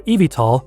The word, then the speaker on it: eVTOL: Electric Vertical Takeoff and Landing, or eVTOL, pronounced eVTOL, is not a brand new idea.